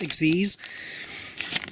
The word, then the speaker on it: Xyz: Pronounce it as if it was a word, because it's a word that is spelled XYZ, so Xyz.